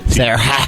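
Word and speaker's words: Hsara: The H is silent. Hello, my name is H-S-A-R-A. Sarah.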